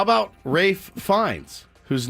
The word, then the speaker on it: Ralph: boisey boisey how about Rafe fins whose name is spelled Ralph my name is spelled Ralph but I want you to call me wraith the L is silent wraith and the a